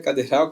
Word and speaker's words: cadeira: trissílabo três sílabas paroxítona conta de trás para frente é cadira cadeiral cadeira cadera cadeiral cadeira é cadeira né Toda vez que a segunda sílaba é a mais forte é paroxítona a palavra cadeira pertence